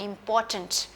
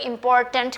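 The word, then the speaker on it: important: टी ए n t turned इंपॉर्टेंट अब आर यहां पे थोड़ा सा इपोर्ट कुछ लोग इंपॉर्टेंट करके बोलते हैं that is not right it इज इंपोर्टेंट आर थोड़ा साइलेंट जाता है यहां पर ना इंपॉर्टेंट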